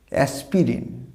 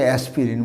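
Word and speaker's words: aspirin: অনেকে উচ্চারণ করে এটা অ্যাসপিরিন। মূলত যন্ত্রণা বা ব্যথা নিরাময় করার জন্য এই ওষুধগুলো ডাক্তাররা দেওয়া থাকে, পেন কিলার এই ওষুধটা থাকে। অ্যাসপিরিন নয়, এর সঠিক উচ্চারণটা হবে অ্যাসপ্রিন, নট দ্য অ্যাসপিরিন, অ্যাসপ্রিন।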